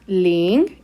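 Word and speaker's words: 零: carácter que más trazos tiene este carácter se pronuncia link y como podemos observar acá es tono número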